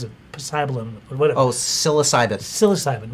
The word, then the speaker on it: psilocybin: Oh, psilocybin.